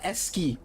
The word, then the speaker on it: ASCII: If anyone remembers the comic meme called Loss, LOSS, and then people tended to use those there's a S key, ACSCII, it's pronounced S key, I think.